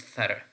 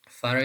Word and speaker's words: thorough: So coming to number 9, this is pronounced thara. Thara is different from through. Through means by, but thara means completely, being all that is needed or complete.